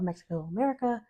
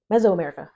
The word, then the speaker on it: Mesoamerica: the great civilizations of Mexico America Mexico America meso America I know it was pronouncing that incorrectly meso America pre colonialism um and